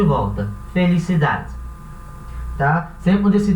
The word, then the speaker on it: felicidad: essa palavra aqui, que é felicidade. Em espanhol, esse D é um D mudo. Então, na hora de pronunciar, esse D vai ter um pequeno sonzinho.